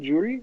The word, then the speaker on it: Juri: Is that how you say her name, Juri?